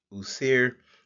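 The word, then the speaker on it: Wsir: the nature usir so we uh would transliterate this uh using the letters wsnr in the Roman alphabet and then we try to pronounce this as usir uh we also uh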